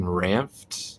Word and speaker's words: Ranft: There's another channel, Evan Ranft. Mm-hmm. That's how you say it, RANFT.